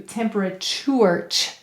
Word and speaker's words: temperature: tour chore that's right temperature and this becomes a schwa sound so that becomes a lazy vowel because any vowel may say uh or it in an unstressed syllable and two are turns into temperature do you hear that that's assimilation again when sounds become more similar so that they're easy to say in your mouth all right temperature great